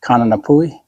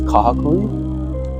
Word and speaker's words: Kahakui: It's like Kananapui? Yeah. No. It's not even close. It's close. No, what is it? Phonetically, kind of. It's Kahakui.